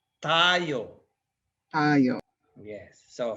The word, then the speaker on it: tayo: Remember, if the accent is on the first tayo, that means you're standing up.